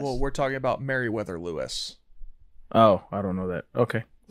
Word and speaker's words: Lewis: Lois? Am I saying it wrong? Lewis and Clark. Lois and Clark. I thought it was Lois and Clark. Lois and No, Clark. it's Lewis.